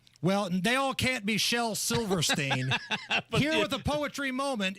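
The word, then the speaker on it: Shel Silverstein: Shell Silverstein.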